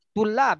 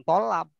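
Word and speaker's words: طلاب: Para mahasiswa, tulab, jangan tolab. Kalau tolab, orang yang banyak minta nanti.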